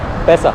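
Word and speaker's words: baisa: 300 Paisa means, 1 Rial comprises 1000 B-A-I-S-A But it's pronounced as Paisa here.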